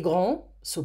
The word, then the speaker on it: grands: Sont grands, and do not pronounce the S.